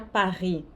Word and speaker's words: Paris: O S aqui não se pronuncia, aqui o vont, o T não se pronuncia, Paris. O S não se pronuncia, comment?